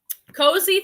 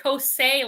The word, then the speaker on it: Cozy: Cozy Threads is a newish bulk seller like Jomar. That's right. And I pronounced it like Kosei last time or something. People corrected me. It's pronounced cozy.